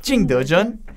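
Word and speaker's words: 景德镇: 중국 통인 백희영 기자가 방금 여러분 원어민 발음을 해줬습니다. 징더전.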